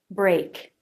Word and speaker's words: break: the sound a Bray at the end keep your tongue tip down but arch the front part of the tongue towards the front of the roof of the mouth a Bray and to end a K sound back at the tongue lifts up and touches the soft palate then pulls away break break the word sounds just like this word break I hope this video